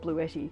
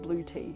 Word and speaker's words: Bluetti: is fantastic incidentally seems we're Australians and we call it blue Eddie and the Americans call it blue tea so I'm not sure